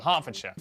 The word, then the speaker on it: Hertfordshire: ER is pronounced R. Berkshire, Clerkenwell, Hertfordshire. But before you get too